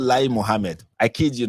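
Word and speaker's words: Lai Mohammed: of information is called lie Muhammad. I kid you not. The former minister of information in Nigeria was actually called Li Muhammad. But okay, the lie is spelled differently but pronounced the same.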